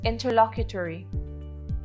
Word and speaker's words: interlocutory: of the day is interlocutory interlocutory is an adjective that is spelled i n t e r l o c u t o r y interlocutory interlocutory is pronounced in tur la queue tori interlocutory means determining a